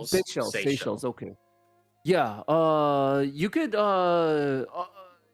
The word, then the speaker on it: Seychelles: I don't want to mispronounce it. The Seychelles. Seychelles.